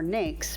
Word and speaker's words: NAICS: system the system or Naik's pronounced like snakes is the standard used